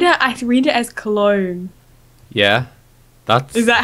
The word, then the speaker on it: Cologne: when I read it I read it as cologne yeah that's is that how you say that's